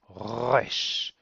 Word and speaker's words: resh: is a semi-guttural sound, and the correct pronunciation, if you really want to be perfect, then you want to try and pronounce it from the back of the throat, like a r, r. So we'd say resh, resh, resh.